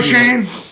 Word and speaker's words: Schoen: Joe Shane, spelled like SCHOEN.